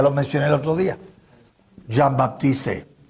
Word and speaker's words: Jean-Baptiste: Siempre lo escribe y lo pronuncia como si fuera inglés. Y no es inglés el señor, es francés. Ya lo mencioné el otro día. Jean-Baptiste.